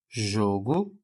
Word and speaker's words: jogo: A gente vai lembrar de jogo e jogo, em que eu terei o jogo pronunciado com o som mais fechado, tá? E eu terei um jogo pronunciado com o som mais aberto.